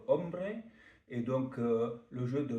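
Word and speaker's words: hombre: Euh mais euh c'est un jeu espagnol puis qui s'écrit H O M R E, c'était ombre.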